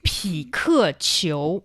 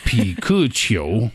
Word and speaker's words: 匹克球: It's 匹克球. I think it's a very direct translation. Sounds like Pikachu. Yeah. 匹克球. 匹克球. Piku is pickle. Yeah. Cho is sport.